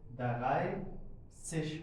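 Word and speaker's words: dreißig: द राय सश हो जाएगा।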